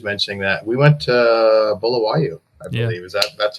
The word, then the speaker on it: Bulawayo: think she was mentioning that we went to Bulawayo, I believe. Yeah. That's how you pronounce it.